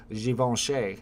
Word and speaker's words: Givenchy: and ever since then I think I do a good job because I'm like Givenchy you gotta really you gotta get really French with that one Adam says when is